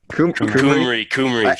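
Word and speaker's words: Cymru: Besides Chimru, like Kumri. Kumri.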